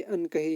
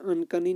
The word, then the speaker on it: अनकही: ये अनकही है, अनकही कहानी. ये एक्सप्लेनेशन में अच्छी ठीक स्पेलिंग है. यहाँ पे यहाँ अनकनी नहीं है, ये अनकही है.